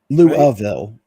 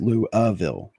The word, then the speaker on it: Louisville: Louville is actually how it's pronounced. Louville.